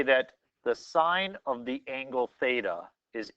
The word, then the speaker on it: sine: as sine of theta so it's spelled s-i-n-e sine of theta it's not times theta and this is the word that we use we abbreviate it to be this please don't say sin and if you consider